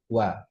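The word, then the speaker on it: は: enggak enggak tipo ya ini emang benar sebagai partikel hiragana H ini dibacanya wa nah kalau nulis partikel wa itu pakai hiragana H ya itu kan pakai hiragana wa terus ini juga sama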